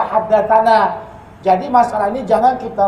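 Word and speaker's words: حدثنا: Tulisannya tani, tapi wajib kita baca haddatsani. Tulisannya tanah, wajib kita baca haddatsana.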